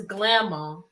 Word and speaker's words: Glamma: See, y'all saying the name wrong. It's Glamma. See, Glamma with Glamma. Glamma. Yeah, she the Glamma.